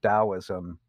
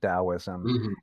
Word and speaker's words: Taoism: some basic themes of taoism and explain why we say taoism with a d sound and why we spell